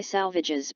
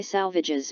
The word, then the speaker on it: Salvages: note to the poem, to rhyme with assuages, with the emphasis on the penultimate syllable.